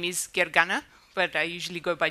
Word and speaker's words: Gergana: first let me introduce myself my name is Gary gana but I usually go by because that's a little bit easier to pronounce I recently became a Microsoft MVP in